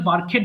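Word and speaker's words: barked: করাকে ইংরেজিতে বলছি বার্ক সো বার্ক বার্কড বার্কড এটা কিন্তু বার্কেড হবে না ওকে একটু খেয়াল করে পড়তে হবে এটা হবে বার্কড সো বার্ক মানে ঘেউ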